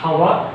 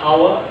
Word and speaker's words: hour: This word starts with H, consonant. Its sound is not hour. It's hour. Not hour. It's an hour.